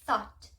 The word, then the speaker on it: thought: Ele pode ter uma pronúncia que é simplesmente ignorada, que nem thought. Quando tem GHT, a gente não fala o GH, vai direto pro T, tá? Então, a gente tem que se atentar bastante a isso.